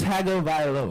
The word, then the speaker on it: Tua Tagovailoa: It's Tua Tagovailoa.